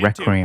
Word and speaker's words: Requiem: Capcom just dropped the first footage, okay, that's how you pronounce it, Requiem.